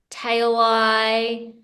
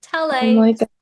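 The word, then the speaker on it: Talei: had that really throws up some interesting um pronunciations so I've had t t tail ey so it's it's I'm at the point in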